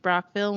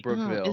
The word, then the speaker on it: Brockville: right end oh why it's why is it pronounced Brockville when there's two o's there's not two o's